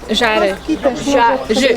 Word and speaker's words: Żary: How do you pronounce the Z from Zari? Żary.